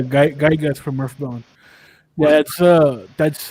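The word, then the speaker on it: Giygas: the link wow uh is it pronounced gigas or yeah guy guys from earthbound that's uh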